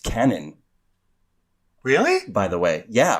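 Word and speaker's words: Kwannon: on Twitter is pronounced Canon really by the way yeah or Canan like you don't pronounce the w why anyway I don't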